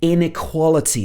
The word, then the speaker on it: inequality: so here she says inequality this is a long word let's look at this inequality the stress is on the quality part so this means that